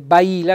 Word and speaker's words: baila: la Baila il Badile Baila non baila baila Quindi mi raccomando un bel accento tonico sulla i e adesso andiamo ai